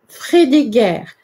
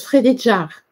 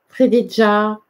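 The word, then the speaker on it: Frédégaire: Nous allons voir que ça se prononce pas du tout comme ça. Je sais plus où je l'ai mis parce que j'ai du mal à retenir les noms. Ah ben, Frédéguerre, c'est Frédégard, en fait, mais ça se prononce Frédéjar. Frédéjar, voilà.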